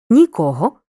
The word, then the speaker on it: нікого: наголосом залежно від значення якщо займенник указує на відсутність будь-кого чи будь-чого наголошуємо другий склад нікого нічого якщо займенник указує на